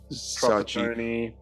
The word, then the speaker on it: Sacchi: Maybe an Ancelotti, probably Arrigo Sacchi, or how do you pronounce it? Sacchi, yep. Yes, Sacchi.